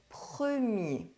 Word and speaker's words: premier: There are two cases where the R is not pronounced. First, masculine nouns ending in -ER and -IER: Le cahier The notebook Le premier The first one Le dernier The last one